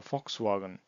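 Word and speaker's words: Volkswagen: যেটা সেটা হবে ভে উদাহরণস্বরূপ ফাক্সওগান আমরা যেমন এটাকেওগান বলি না জার্মানিতে উচ্চারিত হবে ফক্স ফক্স ওয়াগন তেমনি এক্স উচ্চারিত হবে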